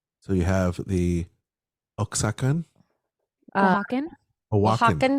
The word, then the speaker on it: Oaxacan: Oaxacan. Oaxacan. That's how you say it.